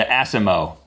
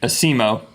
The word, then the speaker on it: ASIMO: makes this one, the Asimo. I don't know exactly how you pronounce that, but it's ASIMO. I'm sure it stands for something. It's an acronym for something. Well, let's emphasize the emo part.